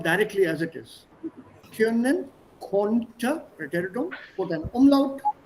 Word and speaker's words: konnte: Können, konnte, preteritum, put an umlaut. E is already there. Könnte. Anjali, do you remember? I think yesterday or the day before I corrected your pronunciation. Konnte, not könnte.